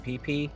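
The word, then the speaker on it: Pepy: Okay, first up, we are going to do the PP anomaly. That is spelled P E P Y.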